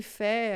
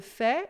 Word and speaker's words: fait: Essa palavra é interessante por aqui a gente tem o T que a gente não fala, tá? F real. Só que esse fé aqui ele pode ser em outro contexto o fato. Então le fet, aí a gente vai dizer o T, tá? Il ne ferian é o verbo fa, a gente não diz o t, mas quando é le fato, né?